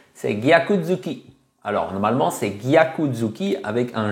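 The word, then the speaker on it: gyaku-zuki: prononcent mal ce mot ils disent tout simplement Yakou donc le G saute hein on dit plus gaku c'est Yaku mais le problème c'est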